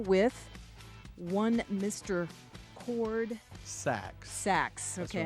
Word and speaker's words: Sachs: Sachs.